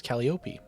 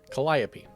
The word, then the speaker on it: Calliope: Now we're a muse and accused of killing the muse Calliope. It's not even in front of me and I said it wrong. I have no excuse this time. Calliope.